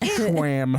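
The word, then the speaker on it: Schwan's: Ooh, I feel like Schwan is a scam. Mm-hmm. It might be, but it didn't taste like a scam. It's pronounced schwam.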